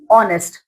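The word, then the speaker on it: honest: vowel sound ठीक है लेकिन ये है तो अल्फाबेट एच से स्टार्ट हो रहे है लेकिन जब आप इसको बोलते हो तो ओ का साउंड आता है ऑनर ऑनेस्ट ओ का साउंड आ रहा है तो ओ क्या है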